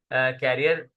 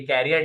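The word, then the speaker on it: career: जॉब ज management style कैरियर ने कैरियर लिखा हुआ है य कैरियर नहीं है करियर होगा करियर प्रपे सी ए आर डई आर नॉ कैरियर इट्स करियर सही स्पेलिंग गलत है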